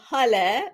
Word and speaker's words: Haleh: I will introduce myself as Hale and an easier way to pronounce my name as I know a lot of people have challenging saying that and I've got all sorts of different ways of pronunciation. So it's h like hallelujah.